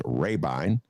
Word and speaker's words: Rabine: couple days ago saying ben you've been mispronouncing it it's rabine and of course not